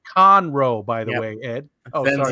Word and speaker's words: Conroe: my pick though in the back oh it's pronounced conroe by the way ed ben's yelling at you